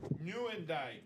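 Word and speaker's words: Nieuwendyk: Joe Newendike. Newendike. Thank you again, Bobby Boule and Rob for the right pronunciation on that.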